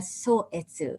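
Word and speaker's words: Sōetsu: his papers his letters a so-etsu it's another way of reading the same chinese characters one is probably he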